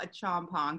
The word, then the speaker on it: Acheampong: So I am here with Acheampong. Did I pronounce that correctly?